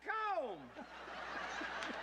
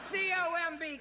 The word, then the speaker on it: comb: Is this calm or cool? No, that's comb.